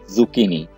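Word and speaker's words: zucchini: यहां पे CH जो है वो काफ की आवाज दे रहा है, तो ये वर्ड होगा जुकीनी यानी तोरी।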